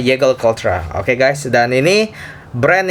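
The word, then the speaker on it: Jaeger-LeCoultre: Dulu gue waktu pertama kali masuk dunia jam, gue panggilnya adalah Jaeger LeCoultre. Nah, sekarang gue kayaknya mulai improve cara gue pronounce. Jadi gue ngomongnya Jaeger LeCoultre.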